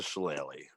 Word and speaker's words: shillelagh: And how do I pronounce it? Shillelagh.